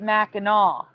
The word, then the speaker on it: Mackinac: So it is spelled Mackinac, but they pronounce it Mackinaw.